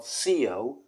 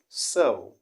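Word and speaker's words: Seoul: i want you to know that the correct pronunciation of the city is not ceo but rather so okay if you know the spelling s-e-o-u s-o-u-l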